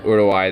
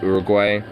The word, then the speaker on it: Uruguay: know there's a few other aspects about uh Uruguay they're actually legitimately policy wise pretty good what country ulawaii or I mean the more English slash Americanized way that people say is Uruguay but it's actually pronounced Uruguay thank you but